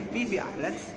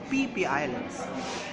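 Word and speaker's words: Phi Phi Islands: And if you ever heard about Phi Islands, it's not say Phi Islands, it's PP Islands.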